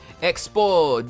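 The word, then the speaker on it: Expos: Expo, you do not pronounce the S in expo.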